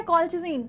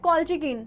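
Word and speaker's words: Colchicine: कॉल्चिज़िन, ठीक है। ये कौन कर रहा है? कॉल्चिकिन, ठीक है। कॉल्चिज़िन, कॉल्चिकिन, जो बोलना है भाई वो बोलो, ठीक है।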